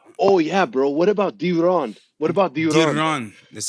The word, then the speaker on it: Deron: I think Deron sounds better than what I'm sure you get a lot, which is Darren, right?